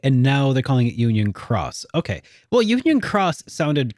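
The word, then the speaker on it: Union χ: In this case, it is pronounced like cross. Okay. So it was key and now they're calling it Union Cross.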